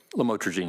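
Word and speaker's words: lamotrigine: about the u the lamel otherwise known as lamatroine. Did I pronounce that right? Lamotrogene.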